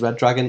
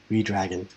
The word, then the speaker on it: Redragon: Someone referred to them as Red Dragon on Dynamite this week, I think it was. So I was like, it must be Red Dragon. I don't care what they say. It's spelled Redragon. Redragon.